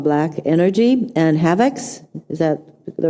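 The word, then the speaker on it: Havex: And specifically, you identified two malware attacks called Black Energy and Havocs. Is that the right pronunciation?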